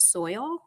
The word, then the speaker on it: $oil: It's $oil, but I was wondering if he pronounces it soil, and it's he does.